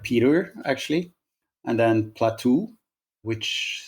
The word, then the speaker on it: Platou: It would be Platou. With this kind of, you go a bit up on the last syllable.